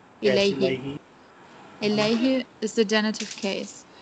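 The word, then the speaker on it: إليه: Do you pronounce it like this? Ilai. Ilaihi.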